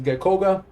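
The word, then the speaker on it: ゲッコウガ: Catherine yep easy peasy Greninja in Japanese is geckoga I used to have a the Korean incineroar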